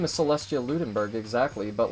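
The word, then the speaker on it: Celestia Ludenberg: Lunenburg exactly but like her name isn't pronounced Celeste eh that's she even says it herself in the game like when she voiced axe she says her name is Celestia Lunenburg they wouldn't have a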